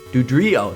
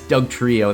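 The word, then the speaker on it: Dugtrio: Dudrio. That's how to pronounce it. I always thought I thought it was Oh, that's Doug Trio.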